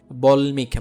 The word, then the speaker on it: বাল্মীকি: বল্মিক বা বাল্মীকির রামায়ণ, হ্যাঁ, বাল্মীকি, ওইখানেও কি হয় না, দুইবার উচ্চারণ হয় না, উন্মুক্ত।